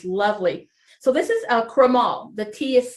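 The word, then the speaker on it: crémant: do wear this lovely so this is a cremael the tea is silent it's made the exact same way this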